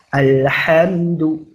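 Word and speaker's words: الحمد: Maka kalau setelahnya huruf dal kita bacanya normal. Tidak ada tempo dan tidak ada gunnah.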